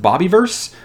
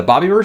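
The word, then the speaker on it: Bobiverse: I think it's pronounced bobby verse the Bobby were series or is it Bobby verse I think it's Bobby first because the main character's name is Bob but this is by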